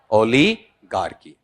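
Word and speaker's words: oligarchy: ओलीगार्की।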